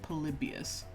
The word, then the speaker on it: Polybius: what do you know polybius that is how you pronounce it polybius that it doesn't exist